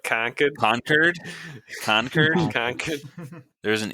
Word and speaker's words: Concord: saying it wrong though isn't it more like conquered conquered conquered conquered there's